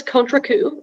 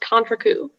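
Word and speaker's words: contrecoup: all the information yes so the word is contra coup it can also be pronounced contracu it's a noun it's from french it means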